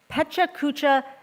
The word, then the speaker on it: Pecha Kucha: So we have a 3-minute, I will say, Pecha Kucha style. Did I pronounce it right?